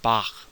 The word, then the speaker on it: Bach: It's a velar fricative, as in the German name Bach or some pronunciations of Hanukkah, right?